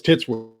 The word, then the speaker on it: Titsworth: Maybe one of the T's is silent. But anyways. Oh, no, it's Titsworth.